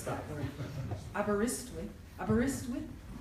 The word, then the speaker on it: Aberystwyth: Carr Chair and Head of the Department of International Politics at Aberystwyth University. I looked on YouTube today to find out how to pronounce that word. Aberystwyth. Aberystwyth?